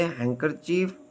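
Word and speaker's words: handkerchief: दरल अल्फाज में डी आवाज नहीं देता जैसे हैंकर चीफ Wednesday silent E ई इज not pronounce at द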